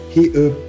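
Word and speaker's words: 히읗: It's called he, and shares the same articulation space as using the back of the throat.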